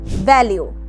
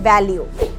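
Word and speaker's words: value: ভ্যালিউ, এই শব্দকে আমরা অনেকেই বলি ভ্যালু, এটার উচ্চারণ হবে ভ্যালিউ।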